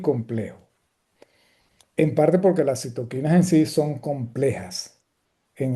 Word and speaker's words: citoquinas: Por cierto, desde el punto de vista semántico, este, yo prefiero la pronunciación y de hecho, desde el punto de vista etimológico es la correcta, este citoquinas y no citocinas como algunos dicen por allí, ¿okay?